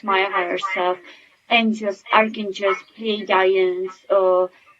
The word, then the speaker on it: Pleiadians: higher self, angels, archangels, Pleiadians, or Bashar actually says that Pleiadians could be pronounced two ways, Pleiadians, so I'm saying it wrong, Pleiadians, all Pleiadians.